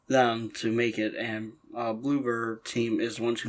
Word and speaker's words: Bloober: Is that how you pronounce it? Bloober?